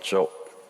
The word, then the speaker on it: Job: 영어로 발음을 하면 job. 우리 직업할 때 job이죠.